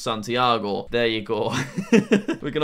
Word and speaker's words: Santiago: Then we have Santiago, although I'm told it's actually pronounced Santiago.